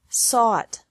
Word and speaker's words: sought: This can be spelled O-U-G-H-T or A-U-G-H-T, but the pronunciation is the same. Bring, brought, brought. Buy, bought, bought. Catch, caught, caught. Fight, fought, fought. Seek, sought, sought. Teach, taught, taught. Think, thought, thought. Remember that the G is silent in these verbs.